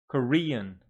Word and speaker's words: Korean: like this one Brazil Japan Chinese Coran three syllable word Korean here on the second table and Peru going